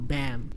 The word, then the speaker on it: Bam: Like I call Bomb, but people call him Bam, which doesn't sound right to me.